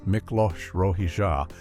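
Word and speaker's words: Miklós Rózsa: Hungarian composer Miklos Rozsa, pronounced Miklos Rozsa, was initially thrilled when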